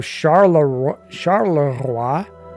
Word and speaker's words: Charleroi: Charleroi. I don't know if that's how you pronounce it. If you were French, that's how you would pronounce it.